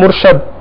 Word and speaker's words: مرشد: سارے الفاظ ایسے ہیں۔ اب مشہور لفظ ہے مرشد، مرشد کو بعض لوگ بولتے ہیں مرشد، پنجاب میں اس طرح زیادہ بولا جاتا ہے، جی ہاں، سیدی،